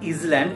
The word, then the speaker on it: island: I-S-L-A-N-D is not island, it is island.